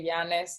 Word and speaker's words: James: It's this one, James _consulting, which, Mike, I really appreciate you say Yanis, so you said it right. I always say James because if not, people don't understand, but very, very good job.